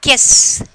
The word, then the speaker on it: guess: And then next one, guess. Guess, here U is the silent letters.